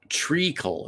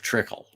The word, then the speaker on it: treacle: It's pronounced treacle instead of trickle.